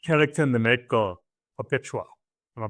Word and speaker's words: Perpetua: the lead character in the night girl, Perpetua, am I pronouncing it correct? Yes. Perpetua.